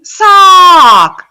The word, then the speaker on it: sock: A is sack, sack. And B, sock, saw. They're two completely different vowel sounds.